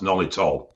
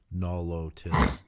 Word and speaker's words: Nolotil: ethically okay and second one is but often pronounced nolitol that's what i've always said but yeah i've always said no it's all as well but it's actually spelled n-o-l-o-t-i-l no low-tier so ethically is form former balloon balloon yeah